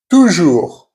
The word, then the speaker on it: toujours: For example, cœur, meaning heart, sœur, meaning sister, and the letter OU, which is always OU. For example, toujours, which is always, fou, which is mad.